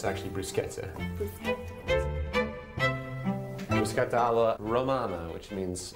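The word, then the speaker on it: bruschetta: it's spelled b but CH in Italian is pronounced C so it's it's actually brusketa br Romana which means it's the Roman variety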